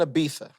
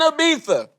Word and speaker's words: Ibiza: I was in Ibiza. Ibiza. Woo. First of all, the Z is silent. It's Yeah. pronounced like a TH, okay?